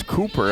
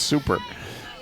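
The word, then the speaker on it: Cuper: I was wondering if it was Cooper. I thought, well, she wouldn't want to have that name today, even if it was, that's how you say it, but no, it's Super.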